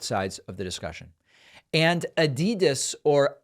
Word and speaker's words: Adidas: And Adidas, or Adidas, as some of our friends pronounce it, has retracted their opposition to the Black Lives Matter 3-stripe design.